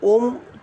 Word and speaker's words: ओम: ओम शब्द का उच्चारण यदि करते हैं तो ओम 3 अक्षरों से मिलके बना है, अ उ म। यदि आप ओम शब्द का उच्चारण कर रहे हैं तो तीनों को बराबर टाइम दें, बराबर तीनों में उच्चारण करें। इस तरह से ओम उच्चारण होगा।